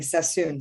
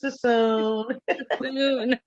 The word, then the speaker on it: Suisun: of water after saying Sassoon so many times. Suisun City. It's because nobody knows how to pronounce it. What is it, Suisun? Yes, that's the normal thing. Is it Suisun? Like, no, it's Suisun.